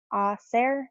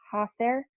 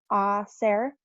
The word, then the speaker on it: hacer: Remember, the H sound in Spanish is silent. You don't pronounce the H, so it's hacer, not hacer. So it's hacer.